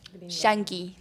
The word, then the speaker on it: Yankee: gringo a shanki okay Yankee they they pronounce the Y like tortia quadia as a sha so they say quad sha with the the Argentina accent so what what is